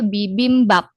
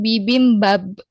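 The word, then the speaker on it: 비빔밥: Jadi, untuk kosakata ini dibacanya bibimbap, P, bukan bibimbab, B ya, seperti itu.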